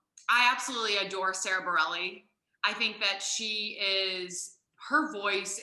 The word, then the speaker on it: Bareilles: If it is, if you spell it Bareilles, yeah. Yes, Bareilles.